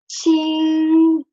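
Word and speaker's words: 清: But with the radical for water, this Qing will get the first tone, and it will be pronounced Qing, and it will mean bright, clean, because it has water, right?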